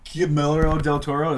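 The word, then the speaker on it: Guillermo del Toro: developed it in collaboration with Norman Reus and gimo Del Toro that's how you pronounce his name gimo Del Toro that's how that's how you do it they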